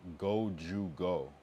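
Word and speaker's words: 五十五: Uh, in Japan, the number 55 is pronounced gojugo.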